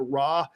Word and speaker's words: Ra: in widespread agreement that Ra is actually not pronounced as the ah sound, that it's more of a long A on the subject.